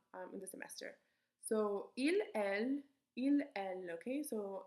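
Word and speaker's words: ils: in the semester so il okay so not pronounce the s in here so il is for men ill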